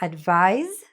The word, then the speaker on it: advise: So advise, which is spelled with an S, but sounds like a Z, and advice, which is the noun.